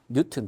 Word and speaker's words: 뉴턴: N이라고 읽으면 비정공자예요. 우린 비정공자에서 정공자로 되려고 하는 거니까 뉴튼 또는 뉴턴이라고 읽어주시기를 바랍니다.